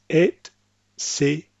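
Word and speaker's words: et cetera: Next, etc. This is not pronounced like some Americans and maybe some other English speakers would pronounce it with an X sound. So, etc. It's et, cetera.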